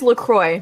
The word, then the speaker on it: LaCroix: mangoes don't I look okay that's the correct pronunciation of that brand the person Wow McCoy how you present it is Lacroix yeah it's the correct block let's go it's